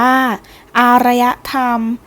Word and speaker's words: อารยธรรม: ยก ย่อง ของ แผ่น ดิน อารยธรรม อ่าน ว่า อารยธรรม หมาย ถึง ความ สงบ สุข ของ สังคม ที่